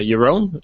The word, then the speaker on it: Jeroen: i'm joined with uh your own your own i i always get your surname wrong your own brewer bruh in dutch excellent so uh as